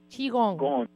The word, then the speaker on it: qigong: Qigong.